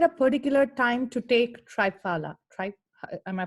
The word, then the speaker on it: Triphala: Is there a particular time to take Triphala? Am I pronouncing? Triphala.